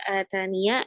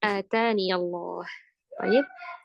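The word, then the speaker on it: آتانِ: Jadi ketika kita berhenti pada kata ataniya bisa bacanya atani atau atan. Tapi kalau wasal tidak ada tidak ada yang menghilangkan yanya tetap dibaca dibaca dengan harakat fathah. Iya maka bacanya ataniallahib.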